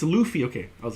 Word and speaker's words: Luffy: who watches one one piece uh Luffy it's Luffy okay I was like I'm I'm not familiar